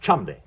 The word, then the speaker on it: Cholmondeley: It's pronounced Chumley.